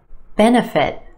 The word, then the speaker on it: benefit: syllable eka eka economic benefit benefit three syllables here our emphasis on the first syllable that add sound benefit benefit that second syllable that's where you'll find your schwa no no Benna Benna benefit individual individual five syllables